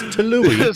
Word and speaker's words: Tyilui: which messed me up and then I couldn't pronounce the real name. So it's Tului.